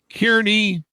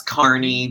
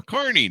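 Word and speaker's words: Kearney: was born He was born and raised in Kierney, Nebraska. Did I get that right, John? Did I pronounce that right? That's Carney, but it weird. Yeah, there you go. Carney, Nebraska.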